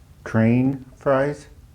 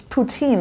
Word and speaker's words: poutine: So maybe I'm going to say it wrong. Train fries? Is that it? Not quite, but I don't think I want to correct you because it was fun. It's poutine, isn't it?